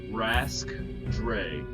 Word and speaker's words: Rhaskdray: The one on the main left says Rask Dre. It's spelled RHASKDRAY.